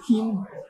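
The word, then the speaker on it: Qin: How do you say Keen? Keen, yes. Q-I-N, Keen. Keen.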